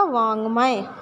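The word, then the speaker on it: वाङ्मय: तो ये देखिए वाक्मय और उच्चारण क्या होगा इसका, वांग्मय।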